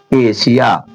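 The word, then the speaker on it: Asia: ये वाली सा, सीटी वाली सा होती है ना, ये वाली सा करेंगे। तो इसीलिए इसको क्या पढ़ा जा रहा है? एशिया, ए एस आई ए, एशिया।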